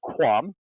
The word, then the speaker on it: QAM: of talk about that that qam that's pronounced quam you know that that was a good lesson for me as a cam but didn't know quite